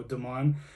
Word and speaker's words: Damon: Kev and Damon and Damon is not how you say it because it has to be in the French way so Damon and Kev is struggling